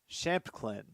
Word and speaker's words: Shamplin: That'll be no gain for Aaron Shamplin. Shamplin. Yes, I did pronounce that right the first time.